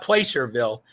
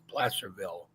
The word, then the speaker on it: Placerville: So, but and the name of it is Placerville, California, not Placerville. People want Placer. It sounds like you would pronounce it Placerville, but it's Placerville, and it's a small gold mining.